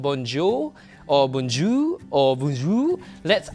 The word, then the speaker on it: bonjour: So it's called bonjour. So in that word itself, you have a nasal sound, bon, and then you have a slight dry R at the end.